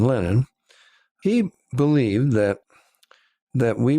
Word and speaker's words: Lenin: i guess in lyndon i'm using the russian pronunciation lenin he believed that that